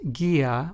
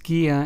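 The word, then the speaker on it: guía: gantis which means peas notice how the U in these two Spanish words Gia and G santis is preceded by the letter G and Then followed by the letter i thus making the U or the U in these two words in Spanish completely silent so just remember that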